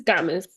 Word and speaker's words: Gomez: Is that pronounced Gomez or is that pronounced Gaines? It's Gomez.